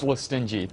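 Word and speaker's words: Lestingi: How do I pronounce the last name, Joe? It's Listingy. Listingy.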